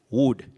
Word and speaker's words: would: L is silent. You say could, should, would. Don't say could, should, or would. That L should not be pronounced.